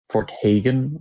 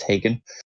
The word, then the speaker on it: Hagen: Starts at level 16, which the game puts you around 16 when you're going to Fort Hagen. I always say it wrong. I think it's Hagen.